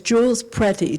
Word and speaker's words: Jules Pretty: His name is Jules Pretty, just like the word pretty, but I pronounce it Pretty, I don't know.